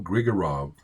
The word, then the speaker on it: Grigorov: Mario Grigorov rhymes with orange.